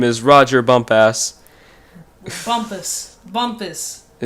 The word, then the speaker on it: Bumpass: Bumpus. Bumpus like compass. Bumpus. Wait, hold on a minute. It's Bumpus. It may be spelled like that, but it's pronounced Bumpus.